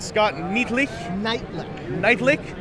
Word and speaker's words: Nietlich: this right Scott Neti night lick night lick night lick like like night and lick night lick like two words I'm half German so